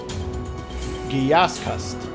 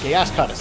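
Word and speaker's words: Gyascutus: Giaskust. Or Giask. I can't pronounce these. Giascutus. Giascutus, that's the name.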